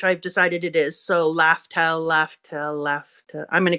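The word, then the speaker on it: Laugh Tale: Then I was like, is this supposed to be Laughtale? But I think it's supposed to be Laughtale. I don't know how to pronounce the last part. The first part definitely has to be laugh.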